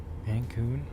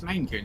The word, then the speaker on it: Maine Coon: Mancoon? Yeah, no, it is pronounced Mancoon. Or is it Maine Coon? It's Maine Coon, isn't it?